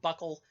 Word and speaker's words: buccal: called buccal fat pads bu CC al the word buckle or goosal and some pronunciations refers to anything around